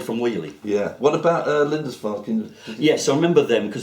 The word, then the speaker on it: Lindisfarne: I've learned how to pronounce it because there is a tribute band to Lindisfarne called Linda's Farm. okay. And so when I have to say Lindisfarne, I think of Linda's Farm and just change the M to an N.